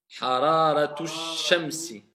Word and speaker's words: حرارة الشمس: Comment tu vas les lire si tu veux les coller? حرارة الشمس Hararatu shamsi. الشمس On ne prononce pas alif wal lam.